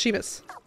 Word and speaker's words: Seamus: Okay, so it's Seamus.